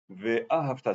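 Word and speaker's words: וְאָהַבְתָּ: Il faut mettre sur le sidour l'accent tonique sur le Ve'a et ensuite Havta. Sur le Ta, Ve'a et le Ta à la fin. Ve'ahavta, c'est pas difficile, mais il faut s'en rappeler.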